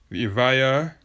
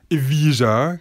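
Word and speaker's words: Evija: Avaya yes that's right let's pronounce the Lotus if I are not Aviva cuz I know a lot of people are going to lazily assume that its Aviva is not it's Avaya hopefully people will actually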